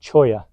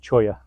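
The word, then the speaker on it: cholla: thorn in his paw and it's called a choya c h o l l a the dou L is pronounced as a y so it's pronounced choya and it's a barbed Thorn so it hurts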